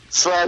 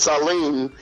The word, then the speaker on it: Salim: And they got the name wrong, of course, because Slam is Salim, and